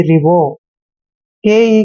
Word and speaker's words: revoke: को ओ की मात्रा पढ़ते हैं, यानी कि रिवो। के ई का उच्चारण यहाँ पर कै करेंगे, मतलब रिवोक।